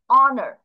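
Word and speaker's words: honour: তারপর দেখা যাক অনার, অ, এখানে কিন্তু হ বলতেছি না, এইটার জন্য কিন্তু হ উচ্চারণ আমরা জানি, হনার হওয়ার কথা, বাট এখানে তা না হয়ে সরাসরি ও থেকে উচ্চারণটা ধরেছে, এইচটা এখানে কোথাও উচ্চারণ হয়নি, তাহলে এইচ, ও দিয়ে অ হয়ে গেছে।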